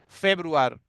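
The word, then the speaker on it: Februar: यानुआर, यानुआर means जनवरी, pronunciation different रहता है, यानुआर। फेब्रुआर, फेब्रुआर, यानुआर, फेब्रुआर।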